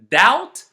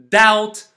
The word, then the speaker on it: doubt: Deb doubt subtle again this second set is also related to the letter B but this time it's not pronounced for a different reason it is not pronounced because it is followed by the letter t as the end or around the end of a word once more if you